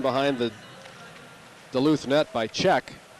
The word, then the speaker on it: Czech: the Duluth net by Czech. What a great name for a defenseman, Czech. However, it is spelled C-Z-E-C-H.